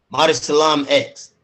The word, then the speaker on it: Mauricelm X: Mauricelm X.